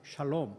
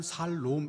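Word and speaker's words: שלום: 임팩트 있는 인사 히브리말로 샬롬 아시죠 옆 분들과 함께 샬롬 하고 인사하겠습니다 발음을 잘하셔야 됩니다 잘못하면 살롬 이게 아니라 하나의 화가 여러분과 여러분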